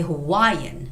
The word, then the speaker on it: Hawaiian: We don't have any stress. But in English, it's got to be Hawaiian. Hawaiian.